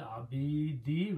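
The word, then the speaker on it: العبيد: So that is the meaning of zalamin lil abidi. When you stop, you say abid.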